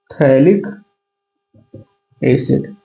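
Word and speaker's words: phthalic acid: थैलिक एसिड। यहां से पी आपका साइलेंट रहता है। ठीक है? थैलिक एसिड इसको पढ़ा जाता है। ठीक है? पी साइलेंट होता है।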